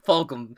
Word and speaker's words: Fulgham: Fulgham. I'm pretty sure it's how you pronounce it.